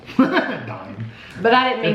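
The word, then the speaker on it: Daim: I said Dime. Dime.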